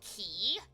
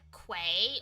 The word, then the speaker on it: quay: finding out that uh q a y is supposed to be pronounced key not like Quay or k it's key it's like what you're